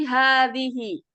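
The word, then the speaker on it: هذه: Tapi cara membacanya dia tidak dipanjangkan. Jadi mi'atun. Sama seperti hadhihi.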